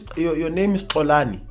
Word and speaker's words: Xolani: I mean, they can be taught how to pronounce the click. If your name is Xolani, your name is Xolani. It cannot be, hi, my name is Xolani, but you can call me X. No, people are not supposed to call you X. Your name is Xolani, and they must learn to pronounce it.